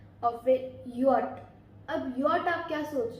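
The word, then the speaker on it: Jot: नहीं, ये हमारा होता है जे, जे को हम बोलते हैं यॉट। अब जर्मन में जो जे की प्रोनाउंसिएशन होती है वो य होती है, ज नहीं होती, उसकी प्रोनाउंसिएशन य होती है, तो ये ध्यान रखना।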